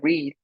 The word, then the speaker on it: read: En presente se pronuncia read y en pasado se pronuncia read, a pesar de que se escriben igual.